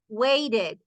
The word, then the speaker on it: waited: Miren, señores, que suena la ED. Needed. Waited. Decided. Visited. Visited. Suena, suena todo.